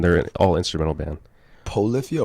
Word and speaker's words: Polyphia: Polyphia or Prolifia? Polyphia. But how you spell that? POLYPHIA.